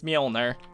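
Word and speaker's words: Mjölnir: Plus, I also looked it up because I didn't know how to pronounce it because it's like MJO something. And I was like, yeah, it's Mjolnir.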